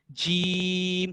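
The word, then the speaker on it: جيم: अब बारी आती है जीम की। जीम is a shajariyah letter pronounced from the middle of the tongue and the middle of the plate।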